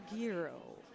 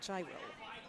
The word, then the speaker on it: Gyro: away versus hero draw or Giro draw well however you would like to pronounce it some of us Americans say gyro which is obviously incorrect they decided to sweep